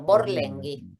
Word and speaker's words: Borlenghi: Borlengui. Claro. La GH en italiano es claro como si fuera gu en español.